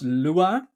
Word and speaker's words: Lua: Portuguese is awful sorry um the name is pronounced Lua which means moon in Portuguese and it's actually